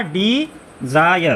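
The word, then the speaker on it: desire: क्योंकि भैया इसमें क्या आ रहा है? आई आर इ आ रहा है। तो क्या पढ़ेंगे? आयर। तो ये हो जाएगा डी जायर।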